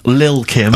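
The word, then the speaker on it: Lil' Kim: are you pronouncing it I'm pronouncing that correctly Lil Kim are no T's involved at least the jump-off featuring mr cheek mr.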